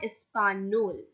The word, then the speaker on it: español: You can see this accent on the top of N over here. The name of this accent is tilde, Tilde. The sound it gives is near, español. That's the reason why we are pronouncing this word as español.